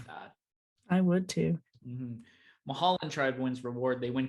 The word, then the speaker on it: Mulholland: Mahandala, Emmett Brown, Hector, Jeannie, Mrs. Kwan, and Wednesday. May I correct your pronunciation? Yes. Mulholland.